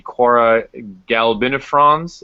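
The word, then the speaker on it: Cuora galbinifrons: Tony mentioned that you have had a lot of success breeding the Quora galbinifrons. Is that Is that properly pronounced?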